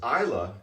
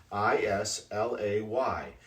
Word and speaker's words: Islay: actually very common because isla is the pronunciation but islay is the spelling i-s-l-a-y and it throws a